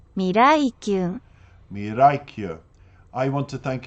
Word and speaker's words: Miraikyun: I also want to thank the translator of the lyrics of this song and Mirakayon. I hope I've said your name properly, but we'll listen to it now, the proper pronunciation. Miraikyu.